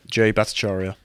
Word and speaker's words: Jay Bhattacharya: were actively being suppressed by this, like, please pronounce his name for me again. Jay Bhattacharya.